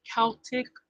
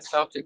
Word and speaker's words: Celtic: Look at me saying it right. Uh guys, I'll probably call it the Celtic cross for the rest of my life. Um I just happened to remember sister reminding me Celtic. Celtic. I actually looked up this